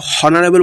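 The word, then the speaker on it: honourable: হবে এটা হাওয়ার উচ্চারণ একদম হবে না এটার উচ্চারণ হবে আওয়ার তারপরে যেটা আমরা অনারেবল বলি হনারেবল নয় অনারেবল অনারেবল ওটা তো এ আছে তাহলে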